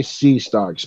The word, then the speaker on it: C. Starks: yeah c dot starks is that how you say it do you say c starts or do you say c star uh c dot i say c i say c starks but yeah okay just